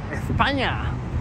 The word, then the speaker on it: España: Spain, España, as the locals say it.